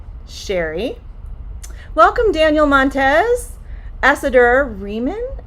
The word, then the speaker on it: Cheri: It's Cheri. So in order to pronounce that sh sound, it's like you're telling someone to be quiet. Cheri.